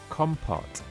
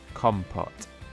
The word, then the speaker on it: compote: the next word in this week's lesson is compot so let's learn a little more by looking at the definition and example but first of all let's learn exactly how we can pronounce the word compot com pot and again com pot excellent so